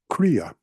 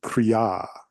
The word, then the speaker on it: Kriya: or longer for instance let's take a word that we use quite commonly pronounce Kaa you know Kaa yoga well I hate to be the bear of bad news for all my Yogi Yogi friends there it's cria it's the long a at the beginning of